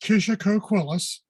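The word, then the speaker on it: Kishacoquillas: just for everyone here see the name it's pronounced kisha coquillus and i'll tell you a little bit about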